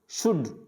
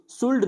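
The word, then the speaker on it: should: वुड, शुड, तो यहाँ पे जो L आ रहा है ये L क्या होगा, साइलेंट होगा, तो इनको पढ़ा जाएगा कुड, वुड। शुल्ड नहीं पढ़ना है, शुड।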